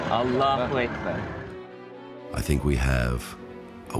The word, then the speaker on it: Allahu Akbar: Inflection is on the second syllable. Allahu Akbar.